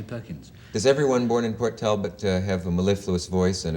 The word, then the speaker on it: Port Talbot: I have a terrible feeling I might be wrong about the pronunciation of the town in Wales. Is it... Port Talbot. Port Talbot.